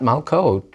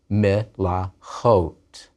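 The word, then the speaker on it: מְלָכוֹת: One malkah, queen, many, not malkot, but melachot.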